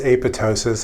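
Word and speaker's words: apoptosis: M checkpoint what is apotosis I've talked about that several times note that the second p is silent apotosis is programmed cell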